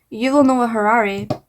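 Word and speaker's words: Yuval Noah Harari: yuil Harari what's his name what's his name you will know a Harari I said it right um and that's like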